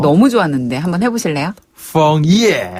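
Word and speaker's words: 枫叶: 그쵸, 근데 발음 너무 좋았는데 한번 해보실래요? 펑예.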